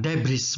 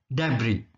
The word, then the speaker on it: debris: Nah, ini S-nya tidak dibaca ya, bukan debris, bukan gitu ya, tapi debris, reruntuhan, puing.